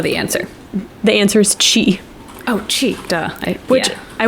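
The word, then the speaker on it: ch'i: I don't know the answer the answer is Chi Oh cheat I wait I wonder if that's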